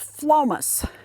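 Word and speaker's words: Phlomis: The plant behind that is called Phlomas, and it's spelled with a PH, Phlomas, and generally I have 4 or 5 stalks of it.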